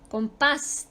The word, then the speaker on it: compás: Compás termina en S, por lo tanto se acentúa.